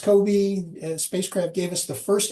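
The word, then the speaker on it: COBE: nonetheless carry on So Co the Kobe this pronounced Kobe spacecraft gave us the first inkling of what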